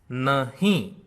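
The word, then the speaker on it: नहीं: Na is pronounced as usual. When you pronounce he, you must use your nose. Okay? It is not nahi, nahi. It is nahi, nahi.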